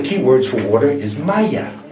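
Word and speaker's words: مية: In Egypt, one of the key words for water is Maya. It is not pronounced the same way in any other Arabic country.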